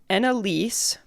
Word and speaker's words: Ennalysse: This one is by Annalise, but so it's spelled ENNALYSSE on Reddit.